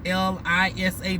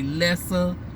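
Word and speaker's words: Lesa: with an E, but I want to say it's pronounced as if it's an I, so it's L-I-S-A, the pronunciation, but the spelling is L-E-S-A. That's why I always want to say Lessa, but it's supposed to be Lisa.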